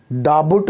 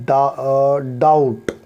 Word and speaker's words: doubt: DOUBT, डाबुट नहीं पढ़ेंगे, डाउट, तो यहाँ पर बी साइलेंट है।